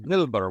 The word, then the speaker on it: Wilbur: But it's a W. Yeah, it's pronounced Wilbur.